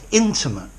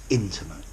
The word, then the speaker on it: intimate: word too intimate intimate notice the stress is on the mate intimate but familiar person